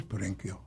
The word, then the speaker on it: Perenchio: It is Perenchio. CH in Italian is never ch, as it is in Spanish. It's k.